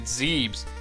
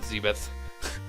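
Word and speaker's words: Zebes: find on the planet zebs it's pronounced zeb's by the way not zebeth later days guys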